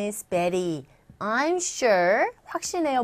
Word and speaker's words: Betty: 베티라고 발음해도 되지만 일단은 Betty라고 해서 R에 가까운 소리가 돼요. 글자는 Y지만 소리는 E라는 모음이에요. 소리가 모음으로 들리는 상황에서의 모음과 모음 사이의 T음은 R에 가깝게 들린다. 그래서 Betty 이렇게 발음이 되죠.